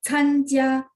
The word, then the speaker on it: 参加: 参加 C bacanya angin, benar nggak? Jadi bacanya参加menghadiri, berpartisipasi.